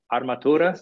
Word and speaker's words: Armatura: Is it pronounced Armatura? Armatura, depending on the accent that you use, I guess. If you did a pretty good job, because it is an Italian great word.